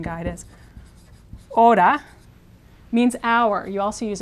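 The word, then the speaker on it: hora: this word a a the H is silent in Spanish always silent so this would be represented in the pronunciation guide as Oda means our you also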